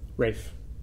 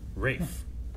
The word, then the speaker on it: Ralph: performed stuff ra fines Rafe okay ra fines Ray fines yep wait a minute how' you spell it it looks like Ralph but I believe it's pronounced ra findes Rafe I know is there